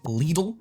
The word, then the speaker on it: Lidl: It almost sounds like how you're meant to say Lidl, even though most people pronounce it like the American pronunciation of little.